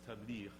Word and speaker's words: tabligh: The Quranic pronunciation is tabliğ.